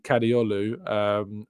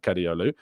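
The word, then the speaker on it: Kadıoğlu: I don't think you pronounced the G. Our Turkish listeners might be able to give me a better pronunciation, but yeah, Ferdi Kadioglu, who has been linked with Arsenal before.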